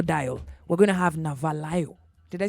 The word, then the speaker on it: Navalayo: We're going to have Navalayo.